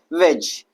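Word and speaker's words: wedge: अगला जो लेटर है, अच्छा एक वर्ड और है वेज। वेज में भी हमारा क्या है? डी क्या है भैया? साइलेंट है। रीज़ रीज़न यह है कि ये जी से पहले आ रहा है।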